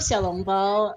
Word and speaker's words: xiao long bao: best rio kane yeah i love xiao long bao uh which is how you pronounce that in chinese in manchester uh someone